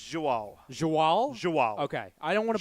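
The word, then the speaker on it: João: How do you pronounce it? It's Joao.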